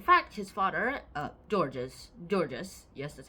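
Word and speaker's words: Georges: good guy in fact his father uh georgees georgees yes that's how you say his name georgees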